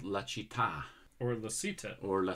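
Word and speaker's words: La Città: It's called La Citta.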